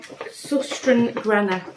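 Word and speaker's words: Søstrene Grene: over that I bought two colored ribbons from susten Gren that's how you pronounce it so I bought two reels there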